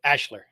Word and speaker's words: Ashlar: holmes you know i've i've read ashlar so many times that's the way i pronounced at ashlar they actually pronounce it ashler ashler homes i'm gonna try